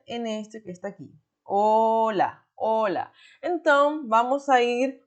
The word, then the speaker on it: hola: Porque a gente fala de hola, hola, não de olá, olá, como em português.